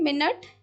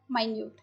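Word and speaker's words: minute: okay अगला word है मिनट या माइन्यूट दोनों ही हम इसको प्रोनाउंस करते हैं मिनट या माइन्यूट तो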